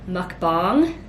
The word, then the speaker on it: mukbang: it wrong before and said it was like more of like a bong and not bang so mukbang hopefully all right this